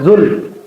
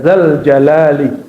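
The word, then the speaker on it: ذا الجلال: almulki ada depannya ya malikal mulki ya badiasamawati ya zal bukan zul ya zal jalali gitu ya nah ini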